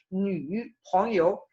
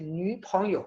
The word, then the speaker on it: 女朋友: Lo estoy pronunciando como un semi-tercer tono.